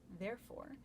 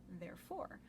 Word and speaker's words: therefore: in those two lines the word therefore scans differently in both lines and the first line emphasis is on the first syllable therefore and in the second the emphasis is on the second syllable therefore I know that's really